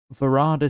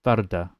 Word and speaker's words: Varada: Yeah, so apparently Varada Sithu isn't Varada. It's Varda. Varda Sithu. That's how she wanted to say her name. Wanted people to say her name. Because I think she wanted it to be... I can't. There was an interview with her anyway that said that's how her name is pronounced.